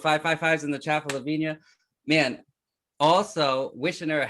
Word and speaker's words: Lavinia: It's Lavinia.